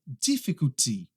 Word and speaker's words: difficulty: A próxima é esta, difficulty. Do you have difficulties pronouncing this one? Difficulty, tá? O que acontece é que a maioria das pessoas, quando erram essa aqui, erram na ênfase da palavra e acaba falando difficult, difficult.